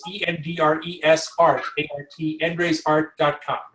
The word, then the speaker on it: Endre: Endre is spelled E-N-D-R-E. It's like Andre, only starts with an E.